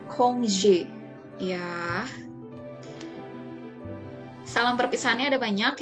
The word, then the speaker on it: congé: Ini dibacanya congé.